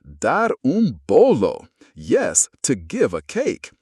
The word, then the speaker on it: dar bolo: The phrase is dar bolo, pronounced dar bolo.